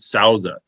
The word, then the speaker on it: Souza: The guy's name, the owner, is David Souza. And it's not spelled the same, but it sounds like the tequila.